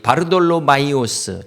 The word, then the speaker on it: 바돌로메: 요한의 아들 시몬아 이렇게 부른 것처럼 바돌로메의 정확한 발음은 바르탈메입니다.